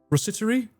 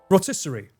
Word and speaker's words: rotisserie: Isn't the the ros I I never know how to pronounce this. Rosseri roster. Rossery chicken. Roastery. Roastery chicken. This is one of those words that I never know if I'm pronouncing it correctly. Rotisserie.